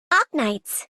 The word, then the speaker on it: Arknights: Listen to how I pronounce it. Ark knights. Ar. The R is barely there.